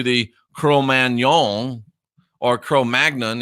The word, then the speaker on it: Cro-Magnon: cruel man yawn or cro-magnon it's actually a French word so crow man y'all and my horrible French would be more likely the real pronunciation and that they go